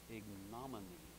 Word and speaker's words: ignominy: of them Proverbs 18 word number 114 is ignominy i-g-n-o-m-i-n-y ignominy and it took me a while to